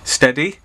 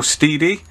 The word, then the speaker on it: Stedi: company called Stedi, which I believe is pronounced Stedi or Stedi, S-T-E-D-I. That's what the company is.